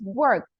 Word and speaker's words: worked: This one is worked. With a T sound.